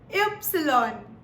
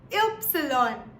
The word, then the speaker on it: Ypsilon: Now, Y in German is pronounced as Ypsilon. Ypsilon.